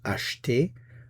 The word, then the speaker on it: acheter: And the verb we're going to look at today is the verb acheter. Acheter. Notice that the E is not pronounced acheter.